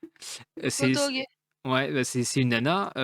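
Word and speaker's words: Gotouge: Gotoge, comment ça se prononce? Peut-être que quelqu'un. Kotoge, C'est Kotoge.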